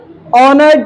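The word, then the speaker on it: honour: लिखा हुआ है this is blank ऑनर to meet you. क्या लगा देंगे? ऑनर। मैंने बताया था एस साइलेंट है।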